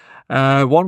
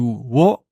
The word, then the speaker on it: を: One way to do that is with the o particle. So you'll notice that it's actually pronounced o as opposed to wo. You often see it written as wo when you're learning hiragana, but it's pronounced o.